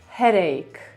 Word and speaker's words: headache: Tutaj to drugie słowo a jest właśnie tym problematycznym słowem, no bo widzimy c i chcemy od razu przeczytać to jako czy, ale tak to nie działa. Wiecie, że wymowa jest tricky, prawda? Więc wymawiamy to w ten sposób.